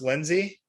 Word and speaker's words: Linze: don't you uh so is your last name pronounced lindsay yeah it is lindsey okay yeah